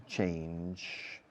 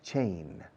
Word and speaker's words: change: Change. No digáis chain. Chain es encadenar. Change. No es que quieran encadenar el menú, quieren cambiar el menú.